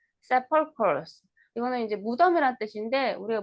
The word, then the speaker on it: sepulchres: 세펄초스. K 발음이네. sepulchres, K 발음이에요. K 발음. sepulchres.